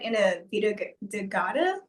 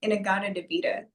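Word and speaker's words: In-A-Gadda-Da-Vida: He kind of said it wrong. I don't know if it's like copyright, but it's he said in a va de but it's actually in a de vita.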